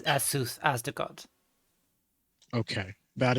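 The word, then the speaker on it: Azuth: So out of character, you said Azut as in the demon, not Asuth as in the knowledge god.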